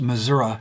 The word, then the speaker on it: Missouri: in Missouri it's called pronounced Missoura in my family who are from Missoura they were from Joplin